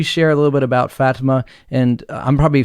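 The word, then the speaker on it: Fátima: it wrong but uh well it depends if you're if you're in portugal i think you would say it's fatima over here people call it fatima so either way works for me the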